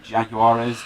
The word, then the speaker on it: Jaguares: hat I can't pretend to know how to pronounce that hog where's Jaguar jaguares thank you regular letters hog where's the nose